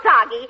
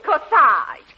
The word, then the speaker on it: corsage: your beautiful casady I'm parking darling it isn't soggy it's corsage age is pronounced Odd as in garage oh they're beautiful